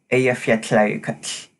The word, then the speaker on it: Eyjafjallajökull: and its length was its usage of this voiceless alveolar lateral affricate the sound sounds like cha and the volcano's name is a fu ki ki the sound isn't very